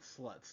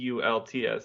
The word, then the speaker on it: Stults: It's You could pronounce it Sluts the way it's read, but anyways, it, no, because it's Slults. So It's Stults. It's Stoltz.